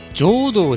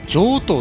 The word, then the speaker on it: 上道: 城東町ですねまあこの上に道と書いてですね上堂ではなく上等と読むんですねで